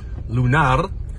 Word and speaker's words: lunar: Lunar, however, roll the R.